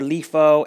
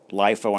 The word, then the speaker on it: LIFO: lifo and fifo or leaf oh and fifo I've heard it pronounced both ways so what are these things lifo and fifo that's the way I prefer to say it reminds me of